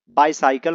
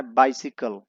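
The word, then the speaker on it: bicycle: बाइसिकल, इसे बहुत लोग बाइसाइकिल पढ़ते हैं, इसे पढ़ना है बाइसिकल। ये सही प्रोनाउंसिएशन है।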